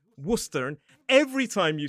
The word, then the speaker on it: Worcester: And that's why Worcester is not Warcester, it is Worcester.